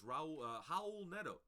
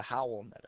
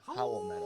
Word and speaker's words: Raul Neto: Some other plays that you could be looking at is Raul Neto. It's yeah. We gotta say his name correctly. It's the Howl Neto. Howl Neto.